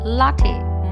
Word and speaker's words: latte: will be pronounced as Tay so the correct pronunciation of the world will be latte mocha is a mixture of coffee and chocolate